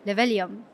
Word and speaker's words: Libelium: Joining me today is Antonio Jara, the executive board member and co-owner of Libelium.